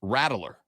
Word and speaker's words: Rattler: Spencer Rattler. Okay. We had Shane Beamer on, friend of the show, Shane Beamer, a couple of months ago. And when talking about him, he pronounced it Spencer Rattler.